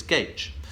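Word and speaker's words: Gaitch: my my actual surname is not Taylor it's Gage and although it's a wonderful name and it's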